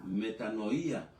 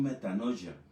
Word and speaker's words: metanoia: El tema se llama metanoía, o sea, se pronuncia también metanoya, metanoía y se pronuncia metanoya.